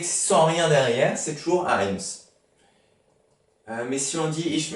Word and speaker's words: eins: Eins.